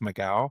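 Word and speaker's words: McGough: I think your last name is You pronounce it Mau. I think that Mau I think it's Mau.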